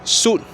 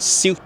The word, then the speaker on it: suit: We say suit and tune, not siu and tune. Why? Because our phonology does not allow iu followed by a consonant. So we say iu only at the end of a syllable, like new. But in the middle, we opt for the long U, which I might argue,